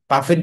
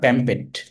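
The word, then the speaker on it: pamphlet: প্যাম্পেট, এটা পাফেট বলে না, প্যাম্পেট বলে, প্যাম্পেটই বলে, এলইটি উচ্চারণ হবে না, প্যাম্পেট।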